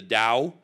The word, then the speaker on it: Dao: to a taoist man you would say taoist if you saw it written but he was a follower of the way of the dao which is the right way to say it in chinese and as i interviewed